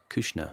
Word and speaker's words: Kouchner: Oh, people say it various ways. Bernard Kouchner. Kouchner is usually how that's pronounced. No relation to that Kushner, Jared Kushner.